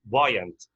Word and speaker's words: buoyant: buoyant everyone is an adjective spelled as b-o-b-u-o-y-a-n-t pronounced as buoyant it means floating or rising on top of